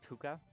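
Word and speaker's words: Pukka: Oh, it's puka technically. Puka. Okay. Puka. Irish. It's an Irish word.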